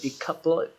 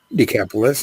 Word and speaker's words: Decapolis: went away and began to Proclaim in the decoupled decapolis right decapolis yeah that was an area of 10 cities